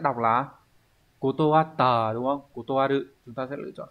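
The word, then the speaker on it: 断る: Nghe câu chuyện đó thì nghe nói anh chị Nakamura đã từ chối, vậy thì từ chối sẽ đọc là kotowatta, đúng không? Kotowaru.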